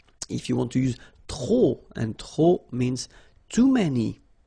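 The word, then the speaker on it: trop: If you want to use tro and tro means too many okay then you will have to put the and the noun without the article. Okay remember too many don't pronounce the final pay to the and the noun without the article.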